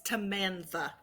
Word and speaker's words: Tamantha: you like to go you said it wrong it's tamantha tamantha uh uh okay